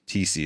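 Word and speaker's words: Thiesse: Uh, Corey Dropkin and Cory Cory TC. TC is how it's pronounced.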